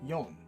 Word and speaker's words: shi: 4, or shi, is also read as yon.